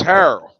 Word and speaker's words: Harrell: bird Corral that's why it is Harold not Andre Harrell we don't pronounce it like him but um anyway man